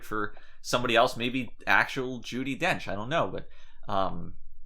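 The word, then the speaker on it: Judi Dench: i speak from experience judy dench coincidentally is a wench that's why i've had all these problems with her name it rhymes with wench right um that's why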